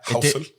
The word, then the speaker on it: Housel: It's a great book, by the way, by Morgan Housel. Is it? Is that how you say it? Yeah. Housel.